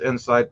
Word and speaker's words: INSYTE: I released Insight in October, and that's spelled INSYTE.